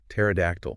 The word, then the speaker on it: pterodactyl: Something like pterodactyl. P E R O. Yes. Starting with a silent py.